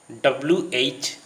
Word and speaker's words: which: WHICH and WITCH are nearly same in pronunciation. Both the words are pronounced as which.